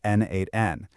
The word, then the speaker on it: n8n: And by the way, it's pronounced N8N.